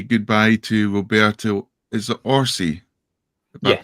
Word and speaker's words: Orsi: Is it Orsi? If I Yes. pronounced it right. Roberto Orsi.